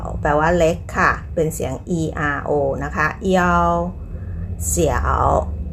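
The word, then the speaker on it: 想: หมิง หมิง แปล ว่า ชื่อ ค่ะ หมิง ตะกี้ เสียง in ก็ คือ อิน ใช่ ไหมม คะ จำ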